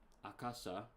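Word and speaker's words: 赤: How would this be pronounced? Aka. It's much more sharper the way they do it.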